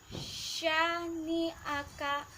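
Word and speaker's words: شَانِئَكَ: Terus syani'aka, syani'aka. Huruf shin harus dibaca tebal.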